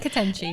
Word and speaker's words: Ketenchi: It's Turkish. No one knows. Just Ketenji, Ketenchi, okay. Whatever you need to say is Ketenchi.